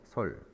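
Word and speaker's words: 率: 거느리다라고 해석을 할 때는 솔이라고 읽어주고요. 이 글자가 비율이다라고 해석할 때는 율이라고 읽어줍니다. 근데 여기서는 환웅이 하늘의 아들이 솔 거느렸습니다. 그죠? 거느렸다. 여기서는 솔이라고 읽어준다.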